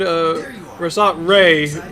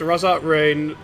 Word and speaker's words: Rasat Ray: Yes, it is pronounced Rasat Ray, not Raised to Ra, or Raised at Ra, or Rasat Ra.